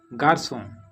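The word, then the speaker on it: garçon: Example गार्सों और गार्सों में ओ letter से पहले सेडला आया है जो कि डबल एस मीन्स सा का साउंड देता है।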